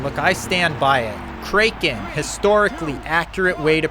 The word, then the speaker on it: Kraken: what can I say this is the way I pronounced it Kraken and I think it's accurate right look at that I